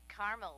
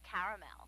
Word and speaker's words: caramel: us car clinic in Carmel actually you said Carmel when it's pronounced caramel can't we just call it yellow know everyone